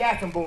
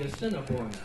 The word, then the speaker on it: Assiniboine: Up to the Assiniboine River. Wait a minute. It's the Assiniboine, Killer.